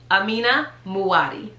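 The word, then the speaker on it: Amina Muaddi: she makes some great shoes how are y'all pronouncing this amina muwadi amina muati amina muati now that you see it i've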